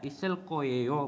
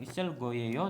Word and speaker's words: 있을 거예요: Jadi dibacanya isel koyeyo, bukan isel goyeyo tapi isel koyeyo.